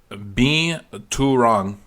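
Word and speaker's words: Binturong: It is pronounced Bean Too Wrong.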